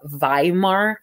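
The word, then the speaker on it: Weimar: at me crazy but in the German language a W is pronounced with it like as a V in the English language so those I'm our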